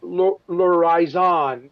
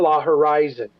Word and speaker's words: L'Horizon: And I was just informed the other day from the old president of the Disneyland Hotel that it's L'Horizon, it's not La Horizon. He said everybody's been pronouncing it wrong.